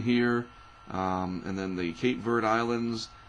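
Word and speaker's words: Cape Verde: the cape vert Islands I've seen them referred to as Cabo Verde is that how you say it the Cabo verd Islands but I know it is the cape verd Islands we call them Cape verd hurricanes for a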